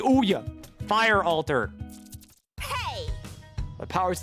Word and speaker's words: Ouya: That was the Ouya! That's how it's pronounced. It's the Ouya.